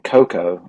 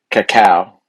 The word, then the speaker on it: cacao: And that was the first time I had heard it pronounced something other than cocoa. And of course the bean, is it a nut? I think it's a bean. Cacao.